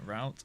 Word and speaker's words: route: Root is French. So I fear root is the OG pronunciation. Route, again, was Americans trying to change things and standardize our pronunciations.